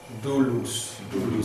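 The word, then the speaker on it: δοῦλος: Dulus. Estamos pronunciando este diptongo como U.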